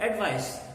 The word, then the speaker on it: advice: The same is the case with advice and advice. If it is a noun, it's advice. He gave me some very good advice. And he advised me to go home.